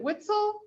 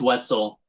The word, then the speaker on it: Wetzel: us mr now is it whitsel it's wetzel so that's why i